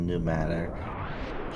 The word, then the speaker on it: pneumatic: I'm sure the P is silent in Pneumatic.